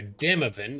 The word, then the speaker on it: Demavend: While admittedly putting more effort into the latter, after Demavend, so Demavend, that's how you say it, after Demavend's demise, pretenders to the crown sprang up like mushrooms.